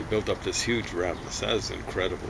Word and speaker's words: Masada: Masada, I think it's Masada is how it's pronounced.